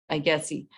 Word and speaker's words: IGETC: We have IGETC, that's how you say it, IGETC.